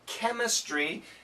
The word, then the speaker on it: chemistry: a Greek background usually the CH has a k sound when pronounced in English so chemistry has a Greek origin